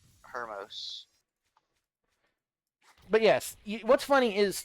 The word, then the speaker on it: Hermos: It's Tamias, Critius, and Hermos.